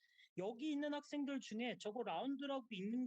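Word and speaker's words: ∂: 라운드라고 읽어요. 라운드. How can we read this? 라운드 x, 라운드 v. 라운드라고 읽습니다.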